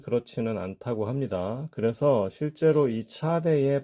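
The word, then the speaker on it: צדי: 자 방금 말씀드린 것처럼 차대의 발음은 s의 강세음이죠 비교 대상이 당연히 애쓰고요 일반적으로는이 소리를 이런 소리를냅니다 전문용어로 말하면이 소리는 무성 치음 파찰음이라고 합니다 이 경우에는 소리를 내실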